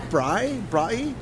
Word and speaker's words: braai: So if I wanted the braai? Chicken flatbread. How's it pronounced?